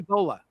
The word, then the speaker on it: Bollea: Terry Bollea. Is that how you pronounce his real last name?